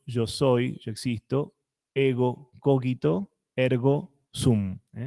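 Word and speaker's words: cogito: soy yo existo ego coquito ergo zoom el coito se lee como si hubiera una u después de la G y con acento en la o Eh egocógito ergosum bueno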